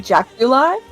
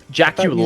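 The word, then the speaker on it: jaculi: is it called um okay it is the jauli how do you spell it j a c u l i okay Jack you li I thought there was an e at the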